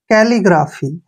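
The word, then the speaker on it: calligraphy: यहां से यहां तक सी का उच्चारण हम क्या करेंगे के ऐसे डबल एल को ल पढ़ेंगे और आई को ई की मात्रा कैली क्या हो गया कैली अब जी का उच्चारण ग करते हैं आर को र पढ़ेंगे ए को आ की मात्रा और पी एच का उच्चारण फ करेंगे और वाई को बड़ी की मात्रा पढ़ेंगे ग्राफी कैलीग्राफी कैलीग्राफी क्या होता है सुंदर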